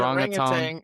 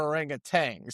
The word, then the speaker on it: orangutan: Yeah, we do need to have the orangutang or orangutan. By the way, I did look up on YouTube the correct pronunciation and it said you could say orangutan or orangutang.